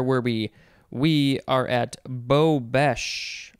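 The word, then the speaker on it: bobeche: we we are at bo bash or bow beige b-o-b-e-c-h-e noun from 1855 a usually glass collar on a candle socket to catch drippings or on a candlestick or chandelier to hold suspended glass prisms they call it a bobeish or bobesch it is french next is bobo b.o.b.o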